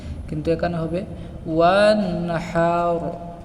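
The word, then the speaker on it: وَانْحَرْ: আমরা পড়ি ফাসাল্লি লিরাব্বিকা ওয়ানহার, অর্থাৎ এই হায়ে হুতিকে আমরা হায়ে হাওয়াজে রূপান্তরিত করি। এখানে আমরা হাকে বড় হা, অর্থাৎ হায়ে হুতি হায়ে হাওয়াজ উচ্চারণ করি, কিন্তু এখানে হবে ওয়ানহার ওয়ানহার।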